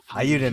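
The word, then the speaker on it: Eiyuden: Ayuden Chronicle. Ayuden, okay, good. I said it right.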